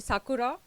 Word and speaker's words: Sakura: in a city called sakura it's not the cherry blossom sakura but it's pronounced the same way it's very close to